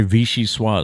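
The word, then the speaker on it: vichyssoise: gotta love the way vichy sua is spelled though it's v-i-c-h-y so there's your vichy see i've heard that before then your s-s-o-i-s-e that's your swah i've heard it before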